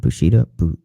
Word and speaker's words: Bushido: How do you say the word Bushido?